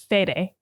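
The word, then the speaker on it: Fede: I have to say I have been saying his name wrong my whole life and so I apologize I'm a dumb Dum it's fed Alvarez fed okay um he also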